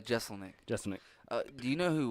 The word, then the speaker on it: Jeselnik: Jeselnik.